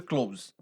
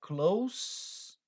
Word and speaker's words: close: Close fechar né mas quando você muda a pronúncia dessa palavra e você fala ela com som de s ao invés de Z quando você pega e fala Close Então ela muda o sentido e aí ela passa